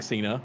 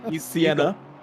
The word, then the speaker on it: Siena: I got told off for saying Cena. I messaged them. I was like, how do you say your name? And they're like, not the way you're saying it. I was like, I'm sorry. So Sienna.